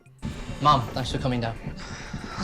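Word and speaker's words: ma'am: Mom. Yes, there's multiple ways to pronounce that. Supposedly, the correct way is to rhyme with jam. So, mom. Mom.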